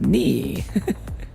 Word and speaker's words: Ni: It's pronounced knee.